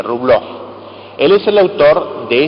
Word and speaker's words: Rublev: Rublev se escribe, Rublov.